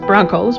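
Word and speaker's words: Bronchos: with an H and it's still pronounced Broncos but now it's Broncos with an H because we're special that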